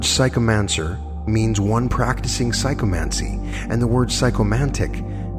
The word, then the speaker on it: psychomancy: of psycho men see the term psycho Mansi pronounced psycho Mansi is derived from two